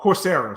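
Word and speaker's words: Coursera: a it's a uh that's Corsica oh oh corsera sorry corsera okay now now you got to spell it yeah o Ur r s e r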